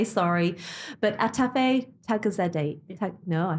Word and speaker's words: Atefeh Taghizadeh: So welcome, let me say this, I'm going to preface it and say sorry, but Atefeh Taghizadeh, no, I said it wrong.